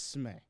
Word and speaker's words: Smee: It's Smee. It's Smee. But if you want to call chat. me Smee, that's fine. It would be SMEE then. You Yes. spell it SMEE. So if you call him Smee, it is SMEE.